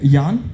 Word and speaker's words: Jan: All right, so the next speaker I have, I was really concerned about getting the pronunciation right. Jan?